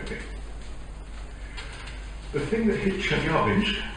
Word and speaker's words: Chelyabinsk: The thing that hit Chelyabinsk, as I'm told by a Russian speaker, I should pronounce it, in February, a few years ago, was the size of a house, about 17 metres.